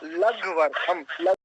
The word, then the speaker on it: लघ्वर्थम: ये लघ्वर्थम है, इसका उच्चारण कि ला धा है कि ला घा है? जी अभी बताता हूँ, तनिक। हाँ जी, आपका प्रश्न है, ये घ है, घ, लघ्वर्थम।